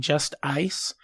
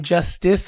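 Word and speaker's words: Just-Ice: can say my name Justice, or you can say Just Ice.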